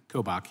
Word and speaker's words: Kobach: the chairman for your kindness uh attorney general kobach am I getting it close to pronunciation sir kobach yeah thank you so very much um I've